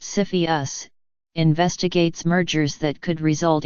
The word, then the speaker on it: CFIUS: in the United States Orpheus pronounced Cepheus investigates mergers that could